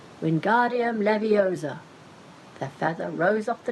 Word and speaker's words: Wingardium Leviosa: much more luck when Guardium Leviosa he shouted waving his long arms like a windmill you're saying it wrong Harry heard Hermione snap its Wingardium Leviosa make the GAR nice and long you do it then